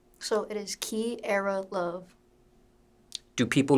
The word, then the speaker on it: Kierra Luv: So it is Kierra Luv. Do people mispronounce this?